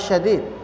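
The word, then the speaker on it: شديد: Jadi pakai syin ya para ikhwan akhwat ya. Kalau syadid berarti keras. Kalau tidak ada titiknya dibacanya syadid. Nah, ini makanya bacanya harus syadid.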